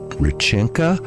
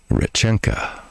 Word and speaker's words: Реченька: Anyway, I'm not sure if I'm going to if I'm going to pronounce this correctly, but I think it's pronounced Rin- Richenka?